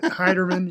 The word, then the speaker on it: Heiderman: I don't really care how you say it, but Heiderman, yeah.